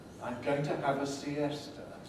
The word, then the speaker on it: siesta: going to have a siesta it's got to have three syllables because the head is strong if i speak in